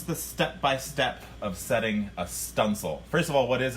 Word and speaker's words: studding sail: It's referred to as a stunsail, but it's spelt studding sail.